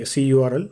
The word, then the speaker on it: curl: The letter C in curl stands for client, so client URL, or you can say CURL or curl, whatever you feel you can pronounce.